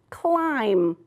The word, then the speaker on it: climb: Climb. Right. You don't hear the B, do you?